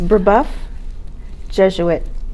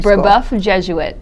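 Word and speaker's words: Brebeuf Jesuit: you work absolutely it's burboth jesuit preparatory buff jesuit yes it's french so that would be difficult to pronounce and you teach french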